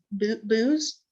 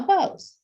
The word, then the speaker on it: beaux: I hate it when they spell it like that. Right. Yeah. Right here. It's booze, but it's Oh no, bows. It's bow. Is it bow? It's bow. Okay. Yes, it is.